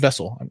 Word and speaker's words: VSSL: devin from vessel and that's spelled vssl but said vessel i made sure to